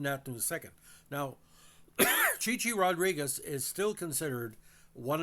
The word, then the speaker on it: Chi-Chi: aided by Johnny Fever when he said this, Chai Rodriguez, and Howard Hesseman's character Johnny Fever said Chichi Rodriguez.